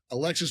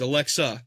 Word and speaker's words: Alexa: Alexis Bliss wins it and she cashes it in on Tiffy. Well, if you're gonna if you're going to pick her, you got to say her name right. It's Alexa.